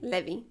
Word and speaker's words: Levi: in Italian Levi Levi in Italian Levi oh in Italian Levy Levy okay uh sounds very French Le um and basically